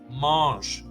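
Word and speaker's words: mangent: sound the same because S at the end of a verb is silent and NT at the end of a verb is also silent so eight of the ten are just mosh the Vu form sounds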